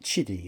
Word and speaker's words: Qidi: Although it's spelt Qidi, they pronounce it Chidi apparently.